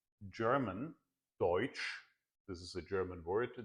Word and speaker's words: Deutsch: and they called German, Deutsch, this is a German word, Deutsch, they pronounced it Deutsch, which sounds sort of like Dutch.